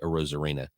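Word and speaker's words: Arozarena: bat this lady she she was trying to pronounce his name she was like AR air Ana what and she like she said it four or five different ways and I was so entertained I should have just let her continue to mispronounce it and I turned around I said it's actually Randy a rosarina and she's like wow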